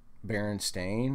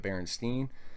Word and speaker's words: Berenstain: book and, you know, now I'm supposed to think that they're mispronouncing Baron Stain, that they're mis they're calling it Baronstein.